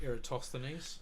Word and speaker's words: Eratosthenes: years later another Greek scholar who I can't pronounce his name eratosthenese thank you um came up with a way